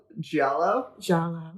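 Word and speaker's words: Giallo: but uh I know that girls guts and G Galo jalo did I say it right this time yeah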